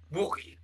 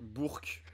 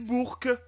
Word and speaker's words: Bourg: à la JDL Bourg-en-Bresse Bourgue pardon Bourke Bourke l'équipe on dit Bourke et Sonia qui m'avait